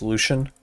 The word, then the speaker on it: Lucian: So, what the Lucian is doing, Lucian, Lucian, I call him Lucien, it's easier, but I think the proper pronunciation is Lucian.